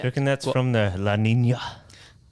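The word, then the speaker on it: La Niña: reckon that's What- from the La Nina? Is that how you say it? La Nina? Yeah. In a Latino accent.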